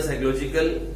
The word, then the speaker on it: psychological: Utility is a psychological, PSCHYOLOGICAL, वो silent है P, तो utility is अ साइकोलॉजिकल concept and इट is next to impossible to measure it in numbers.